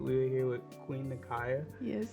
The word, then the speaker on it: Nakaia: We are here with Queen Nakaia. Yes. How are you today? I'm doing good. Good job for saying it right. 'Cause some people say Nakaia and it drives me insane.